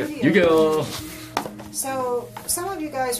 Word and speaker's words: Yu-Gi-Oh: it's time so Yu-Gi-Oh you guys were playing is that how you say it say Yu-Gi-Oh that's how you say it Yu-Gi-Oh so some of you guys are playing it